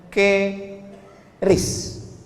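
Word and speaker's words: QRIS: mall ditulis ada namanya ke ris qis Kis. Cara bacanya gimana sebetulnya? Keris. Q-nya quick. Quick artinya cepat. R-nya respons. Kris quick response code.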